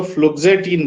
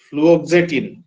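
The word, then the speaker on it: fluoxetine: है एक anti depressant drug होती है जिसको फ्लटिन बोलते हैं फ्लटिन spelling F एल यू ओ एफ एल यू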